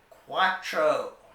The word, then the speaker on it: cuatro: and that means three four in Spanish is cuatro cuatro and finally number five is Cinco Cinco